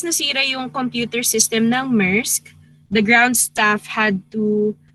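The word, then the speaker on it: Maersk: 000 company laptops of the danish shipping giant musk okay pronunciation was affected and its data got destroyed by not yet so because nusira young computer system now mersk the ground staff had to uh manually check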